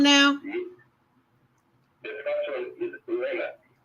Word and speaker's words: Leonard: The first one is Leonard. Leila? Leonard.